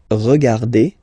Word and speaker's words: regarde: regarde, nous regardons, vous regardez, il regarde, elle regarde. Okay, so one more time here. Regarde, regarde, regarde, and then regarde. So phonetically, only one form here.